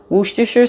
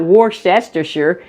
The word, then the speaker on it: Worcestershire: cheese and we're going to be using some Worcestershire sauce let me say something real quick about